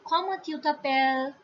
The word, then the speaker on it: comment tu t'appelles: Next is tu, tha, and the last word, last S at the last of appel will not be pronounced. It will be comment tu t'appelles, and the answer will be probably the same.